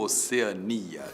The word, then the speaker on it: Oceania: E agora? Oceânia ou Oceania? Tanto faz, tanto faz. As duas formas existem e você pode dizer que a Austrália fica na Oceânia ou na Oceania.